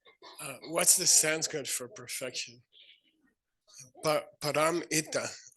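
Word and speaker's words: pāramitā: Param ita. Okay, say param ita. Paramita.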